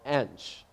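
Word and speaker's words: Hinche: part of Haiti it's in an area called Ange so it's spelled H I n CH e and it's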